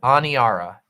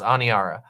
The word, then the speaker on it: Aniara: i a r a anara a n i a just like it sounds anara and uh it is